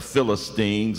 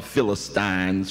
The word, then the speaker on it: Philistines: old and persistent enemy, the Philistines, or the Philistines, whichever way you might choose to pronounce it.